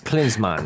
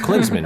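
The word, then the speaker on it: Klinsmann: football team urgan cleans cleans man cleans man cleans man okay great yes thank what did I say I said Clansman right that's the it should be a long e sound yeah cuz uh the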